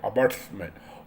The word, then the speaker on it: ombudsman: तो एक लोकपाल होता है, तो लोकपाल रिजर्व बैंक का होता है, उसको अम्बड अम्बड अम्बड्समैन बोलते हैं, अम्बड्समैन, OMBUDSMAN, इसका प्रोनाउंसिएशन थोड़ा सा ये लगता है।